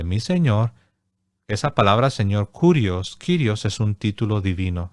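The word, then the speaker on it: κύριος: o es curios bueno si lo dices en castellano es kirios si lo tratas de pronunciar según nos enseñan los biblistas en en el griego sería curios Pero es lo mismo kirios curios esa palabra eh No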